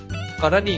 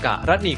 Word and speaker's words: กรณี: ครับ คำ ที่ 2 คำ ว่า กรณี อ่าน ได้ 2 แบบ คือ กรณี กับ กรนี ครับ คำ ที่ 3 คำ